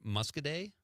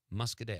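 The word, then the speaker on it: Muscoda: Madison says the town in Southwest Wisconsin is pronounced mus mus say it Conrad musk day musk musk mus y PJ also says that on the stream he checks in Pete it's MUSC musk day I've never had to say that word before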